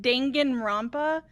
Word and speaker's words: Danganronpa: then everything went black deadly life now it's pronounced danganronpa apparently when i opened my eyes i found